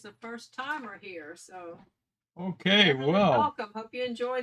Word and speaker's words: hake: okay brush it's a Japanese brush and it's pronounced okay h-a-k-e you'll hear a lot of people call it the hake or a hockey brush but the proper pronunciation is okay and uh it's almost 2 000 years old